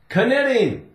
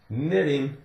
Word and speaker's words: knitting: stocking caps knit knitting if you say it wrong kitting kit no no no knitting knock now we talked